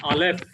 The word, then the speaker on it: Aleph: First alphabet Aleph. Aleph. Aleph. Aleph. Remember, it is a silent letter unless and until it is vowel marking has put under it. It gives a sound.